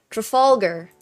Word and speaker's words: Trafalgar: Oh my gosh, speaking of, how do we pronounce Trafalgar? Trafalgar.